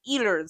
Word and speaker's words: Ehlers: I also should say that just in the pronunciation because I am I'm more aware I'm saying ers and depending on the world where you are you might say eers so you'll probably hear both you know and neither's neither's